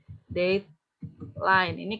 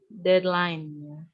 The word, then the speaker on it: deadline: Maaf ada yang bilang ada yang suka bilang dek Lini keliru arusnya Darlin deadline dan dad ini bacanya dad